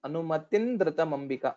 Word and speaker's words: सानुमतिं द्रुतमम्बिका: Here again, anumatin dhritamambika, because of a sandhi, this bindu, anuswara will change into nakara. So anumatin dhritamambika, that's how we'll have to pronounce.